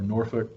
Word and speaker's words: Norfolk: Then there was Naval Air Station Norfolk, or Norfolk, depending on who you ask. There's a different way to pronounce it.